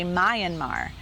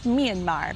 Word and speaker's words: Myanmar: I used to call the name of their country Myanmar. And now I know it's Myanmar because I'm speaking with them and I'm learning.